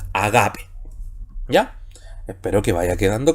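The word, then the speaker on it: ἀγάπη: Y en este caso no se pronuncia, así que la palabra sigue siendo agape.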